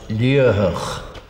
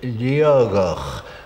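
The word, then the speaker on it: Liathach: As it is written, it is pronounced Liatach, but I know that old native Gaelic speakers from Torridon sometimes pronounce it Liatach, where the T in the middle should be a G.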